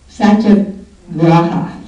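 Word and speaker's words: satyagraha: a g r a h a and I pronounce it SAA graa saaa anyway the the the definition of it is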